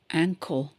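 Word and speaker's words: ankle: தொடர்கிறது இப்ப இங்க பாருங்க ஆங்கோ ஏ என் கே எல் இ ஆங்கோ சோ இதுல போட்டிருக்கிறது ஆங்கில்னு போட்டிருக்கு அப்படி படி இருக்கக்கூடாது இது க போட்டிருக்கிறதுனால க ஆங்கோ சோ கணக்கு கால் அப்படின்னா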